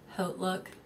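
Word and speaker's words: HauteLook: know how to pronounce Haute Look. Yeah. It's called Haute Look. Yeah, Haute Look. Haute Look. Because like Haute Couture is like Haute Couture, not Hot Couture.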